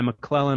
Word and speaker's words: McClellan: It's pronounced McClellan, just like my last name, but it's spelled M-A-K-L-E-L-A-N. That's a phonetic spelling of my last name that I used when I lived in South America.